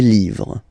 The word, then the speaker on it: livres: Okay, les, and then same rule, you just write livre, and then you put s at the end, but then you don't pronounce it. Les livres.